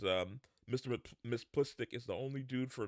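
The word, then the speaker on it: Mxyzptlk: guy and you can see it says um Miss plistick is the only dude for me it's hard to pronounce his name because as you can see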